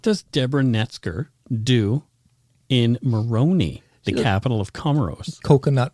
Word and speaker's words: Moroni: Moroni. I'm glad you asked. Rhymes with baloney? It's from the Comoros, which is near Madagascar. Oh, wow. Yeah. Moroni.